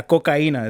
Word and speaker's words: cocina: heard that before yeah kocina is how you say it in Spanish so when I took